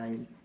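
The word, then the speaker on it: aisle: एक ये भी होता है आइल, इसमें भी एस का कोई वर्ड नहीं आ रहा है।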